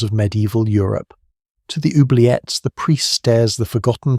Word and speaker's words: oubliette: It is pronounced oubliette, and it comes from the French verb oublier to forget.